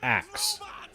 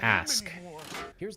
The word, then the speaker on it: ask: So in the episode Xmas story, they established that in the future it's pronounced ax and not ask.